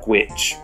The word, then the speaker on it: G-Witch: already has all the G-Witch viewers on a wild ride. You should have said Gwitch, but, you know, can't have good writing. Sorry. But I'm going to pronounce it properly now. It's now Gwitch.